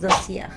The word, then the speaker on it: Dossier: Es que bueno, en sí, si se pronuncia en francés es Dossier.